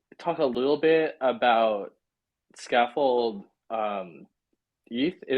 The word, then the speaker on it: Scaffold-Eth: I'm curious, could you maybe talk a little bit about scaffold ETH? Scaffold-Eth is the right way to say Yep.